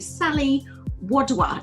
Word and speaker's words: Sally Wadhwa: really excited to welcome onto the show you Sully Woodward now have I pronounced your name correctly first means how perfectly